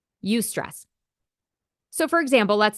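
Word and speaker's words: eustress: is actually good it's called UST stress that is spelled EU and then the word stress you stress so for example let's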